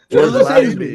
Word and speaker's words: Lazenby: Lazenby. Lazenby? Lazenby. Yeah, that's how we pronounce it here in New York, the right way. It's Lazenby.